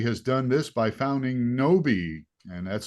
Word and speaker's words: Gnowbe: out there she has done this by founding noi and that's spelled g n o wbe we'll get to